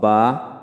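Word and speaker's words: ب: ওয়াও উচ্চারিত হয় ঠোঁট গোল করিয়া মুখ খোলা রাখিয়া, এবং বা ঠোঁটের ভিজায় ভিজায় উচ্চারণ করতে হয়।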